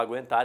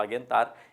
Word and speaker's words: aguentar: ninguém fala sagui, que qualquer um fala aguentar e ninguém fala aguentar, e qualquer um fala tranquilo, ninguém fala tranquilo, que eu já duvido, que eu já escutei, tá?